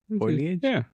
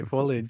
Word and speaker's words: foliage: you say it yeah foilage or foilage see don't do that CU once you say it wrong I can't like say it right you say like Californians say foliage Fage Fage Fage foilage